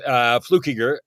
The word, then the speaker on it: Fluckiger: That was long since dropped, Fluckiger, and so I'm just blown away that you said it right. Key, like I do the flu, right. Key, Ger when I teach people how to say it, Fluckiger.